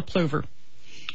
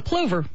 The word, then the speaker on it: plover: and it's called a plover and um this bird has been stud what's it called it's a plover p l o v r you can pronounce it Plover or Plover either way um and these birds